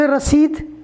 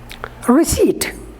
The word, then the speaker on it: receipt: received some people say rasith and some of them pronounce it received these two pronunciations are wrong the correct one is receipt p is silent p is not pronounced at all look at the example